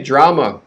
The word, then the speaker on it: drama: that i apologize okay drama stress on the first syllable draw that's an exaggeration but draw and then ma quick drama drama now we go to